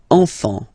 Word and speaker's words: enfant: Enfant. Don't pronounce the T, you don't pronounce the S.